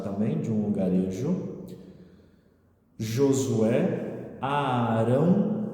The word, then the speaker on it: Arão: Josué, Arão, tem 2 As no começo, então a gente duplica o A, a pronúncia dele.